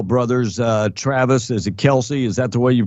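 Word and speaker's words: Kelce: guide the football Brothers uh Travis is it Kelsey is that the way you pronounce their name yep yeah uh supposedly Kelsey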